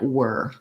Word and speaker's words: we're: what we're gonna do often then that gets reduced one step further down to sound more like were so it's correct to say we're and it's good to practice on that but you can also reduce it and it sounds a little bit more like the word were so you'll hear that's